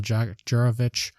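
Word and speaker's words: Jurkovec: But Phil Juravich there, I believe that's how you pronounce the quarterback's name for Boston College, was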